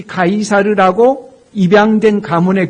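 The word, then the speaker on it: Caesar: 채 쌀의 고 있는 그대로 라틴어 발음 정식 발음을 하면 타이 사례입니다 카이사르 라고 하는 것이 맞게 는데 한국의 성경은 가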